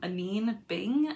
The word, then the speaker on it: Anine Bing: Anyway, I found this brand for the first time, Anine Bing, I believe it's pronounced.